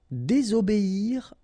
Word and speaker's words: désobéir: Désobéir à. Okay, here you've got to pronounce this I.